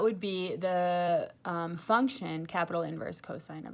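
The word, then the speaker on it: cos⁻¹: By the way, just FYI, when you say this, you never pronounce this cosine to the -1. You always pronounce it just inverse cosine.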